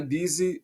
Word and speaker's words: busy: My Busy, percebe que o U aqui ele não tem som de U, tem o som de I, busy, but exciting, routine, ok?